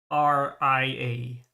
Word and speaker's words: Altria: ARTORIA, But the official Nasu approved spelling and pronunciation is Altria.